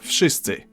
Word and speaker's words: wszyscy: the hell they want, in Polish you simply pronounce each sound one after another and you get the word. W, sz, I, sy, cy, I.